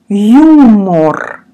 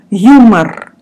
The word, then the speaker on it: юмор: Юмор. Юмор. We O, we pronounce like A. Юмор.